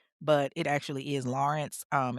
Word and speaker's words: Lorincz: her name was Susan Lorent, but it actually is Lawrence. Um, it's just spelled different. It's like L O R I N C Z, so it's pronounced Lawrence, but for whatever reason, I said Lorent in the promo video.